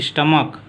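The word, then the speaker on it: stomach: हैं अब उसके बाद यदि नाम की अंत में सीएच हो लेकिन उसका उच्चारण को उसकी अंतिम ध्वनि शो की जगह अगर को निकलती हो तो वहां पर हम यस नो जोड़कर के केवल इस जोड़ते हैं जैसे दिया है स्टमक इसको जब प्लूरल नंबर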